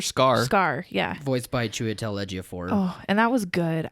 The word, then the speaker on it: Chiwetel Ejiofor: Is that how it's pronounced? Chiwetel Ejiofor.